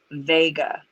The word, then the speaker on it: Wega: this difficult is that it's still pronounced vega so that's where we turn to the residue all right so here's how it is now can you zoom in curious there mm-hmm i'm pronouncing it wiga even though it's vega just to differentiate like